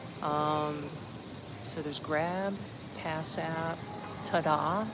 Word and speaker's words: Tada: So there's Grab, Pass App, Tada, T-A-D-A, Tada is how you say it.